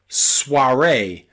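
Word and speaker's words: soirée: o and I together this is Suare Suare again it is a word borrowed from French into English here the O and the I are pronounced a Suare Suare Suare okay it's a really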